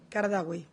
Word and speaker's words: Qaradawi: Qaradawi. Pero se escribe Qadarawi.